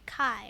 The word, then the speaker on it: Kai: Oh, it's pronounced, but you can call me Kai. Rhymes with sky.